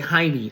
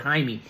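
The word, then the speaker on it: Jaime: Um I saw a note it said uh how it's pronounced it's I guess some people would say haimey. I know I did when I first saw it I said haimey and it's pron pronounced haime. Hi d- m a y.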